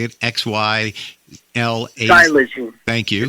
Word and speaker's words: xylazine: Xylazine.